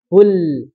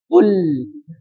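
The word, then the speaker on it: قُلْ: Pergerakan bibir itu sangat-sangat penting ya. Fasahatul lisan. Kul. Kul. Nah, kalau misalkan enaknya kan gini toh. Kul, monyong terus. Nah, itu tidak monyong terus tapi ditarik. Kul.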